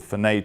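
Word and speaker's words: Fernet: new token format called Fenet tokens, I think it's pronounced.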